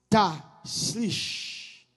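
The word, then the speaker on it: Tashlich: Ta slish. Prononcez moi ça.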